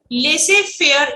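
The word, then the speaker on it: laissez-faire: और लेसे, ये जेड जो है ये साइलेंट रहता है, इसको प्रोनाउंसिएशन नहीं किया जाता है इसका। लेसे फेयर इकोनॉमी।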